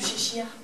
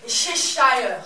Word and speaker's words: Cheshire: d'objets ce que j'aime chez scheer non ça se prononce chez shire sièges à leurs aînés